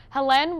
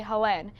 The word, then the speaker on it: Helene: The people at the bottom refused to say Helene. They called her Helen, right, and left it at that.